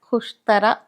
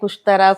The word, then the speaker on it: Khushtara: They could not pronounce it and they used to say Kushtara, Sayyeda.